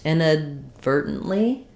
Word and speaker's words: inadvertently: So no stress on the A means it's going to be a schwa sound. So it sounds like in. Then the D is going to be unreleased. Inadvertently.